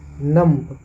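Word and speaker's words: numb: होते हैं जहां पर बी को साइलेंट रखा जाता है जैसे एन यू एम बी नम नम है लेकिन इसको हम नम पढ़ेंगे डी यू एम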